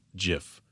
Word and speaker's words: GIF: record straight he goes it's GIF like Jiffy and I've had people